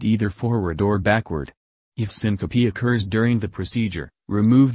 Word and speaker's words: syncope: before leaving the room Simca P pronounced syncope II is the medical